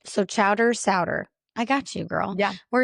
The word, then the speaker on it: Sauder: Is it Solder? It's Ser like rhymes with chowder which I'm sorry I didn't help you with that.